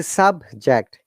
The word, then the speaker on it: subject: Okay, when you use subject as a noun and adjective, we should stress on sub than ject. You can see subject.